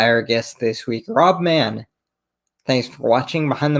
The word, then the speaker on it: Mahon: now by our guest this week it's rob mann from the prince albert raiders rob thanks so